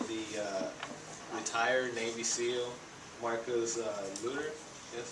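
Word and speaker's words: Luttrell: The book it's written by the retired Navy SEAL Marcus Luther. That's how you pronounce his last name.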